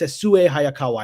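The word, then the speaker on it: Sessue Hayakawa: Let me pronounce it correctly. It's Sesue Hayakawa, and forgive me, anyone who speaks Japanese, because I don't speak Japanese.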